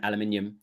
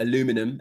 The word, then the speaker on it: aluminium: So basically Trump on Friday night he announced that the US has to double down on steel and aluminium or aluminum as Americans say imports to 50%.